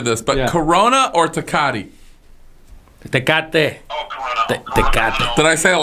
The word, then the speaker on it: Tecate: Corona or Tecate?